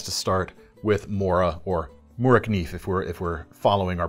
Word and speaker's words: Morakniv: And when we're talking of lightweight fixed blades, the conversation always has to start with Mora, or Mora Knife if we're following our pronunciation more particularly.